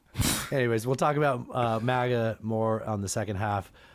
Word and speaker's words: MAGA: MAGA. MAGA. How would you pronounce make New York great again?